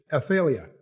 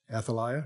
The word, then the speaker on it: Athaliah: And his mother's name was Athlia. I think that's the way you pronounce it. Athaliah.